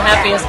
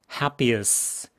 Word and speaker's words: happiest: This is the happiest place on earth. Happiest. Happy us 이렇게 발음합니다. Happiest 이러지 마시고요. Happiest. 해에 강세가 있기 때문에 happiest. 뒤쪽은 그냥 강세가 없기 때문에 쓱 무너지는 겁니다.